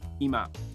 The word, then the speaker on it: 今: This kanji is pronounced ima.